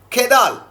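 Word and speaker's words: Kjeldahl: Finally come to the quantitative analysis of protein, in which Kedal, pronunciation K-J-E-L-H-A-D-A-H-Ls, you can pronounce Kedal's method.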